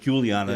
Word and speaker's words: Juliana: pronounced Juliana Yeah.